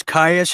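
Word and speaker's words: Kyuss: So, so it's Kais. How how do we spell that in case people want to look that up? Uh K Y K Yus.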